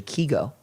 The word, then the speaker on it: Kygo: well what's interesting is kygo in Norwegian is actually key go yeah his name is